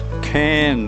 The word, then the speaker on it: Cane: Pronounced Cairn Meadow.